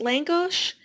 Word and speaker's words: lángos: Hungarian fried bread here I believe it's pronounced Lang gosh and with this spread